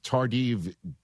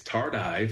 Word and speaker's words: tardive: Uh it's tardiv disanicia. Is that it? Yeah. Great job, E. It's It's Tardive. Tardive. Yeah. Tardive dis.